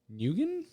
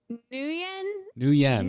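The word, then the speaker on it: Nguyen: by a couple people i think it's uh yen new yen according to hachikumo in the chat room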